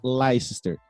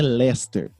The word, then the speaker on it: Leicester: criar um padrão que não é laís ter é lester não ela é se escreve lester é feio lá esperar legal não é leicester é mais legal então não não é